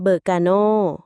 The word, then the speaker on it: Berkano: ถึง ความ ถูก ต้อง ตัว อักษร ที่ 18 เบอร์กาโน รุ่น นี้ ชื่อ ว่า เบอร์กาโน อ่าน ว่า เบอร์